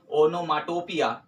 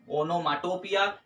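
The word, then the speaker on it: onomatopoeia: इसका उच्चारण जो होगा वो होगा हमारे पास ऑनमेटोपिया क्या होगा इसका उच्चारण ऑनमेटोपिया जिसका जो मतलब होगा अर्थ न्यू रणन ठीक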